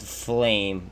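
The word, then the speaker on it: Flaim: don't know if it's any good it's called flame but it's spelled f-l-a-i-m and if apparently they're gonna be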